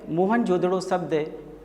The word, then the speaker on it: मोहनजोदड़ो: लें में स्थित है मोहनजोदड़ों सही उच्चारण मोहन जोदड़ो सिंधु भाषा में इसका